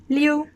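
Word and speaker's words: 六: up repeat after me the number six is pronounced lil sounding like leo but more can join together liu and that is fourth tone again going down liu liu the number seven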